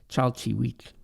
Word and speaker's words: chalchihuitl: Now, the term jade, pronounced in Nahuatl as chalchihuitl, has long been a highly valued mineral in Mexico.